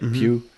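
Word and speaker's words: Pugh: That's how you pronounce her name, right? Pew.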